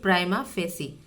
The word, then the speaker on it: prima facie: Prima facie, इस word को हम प्रोनाउंस करेंगे प्राइमा फेसी।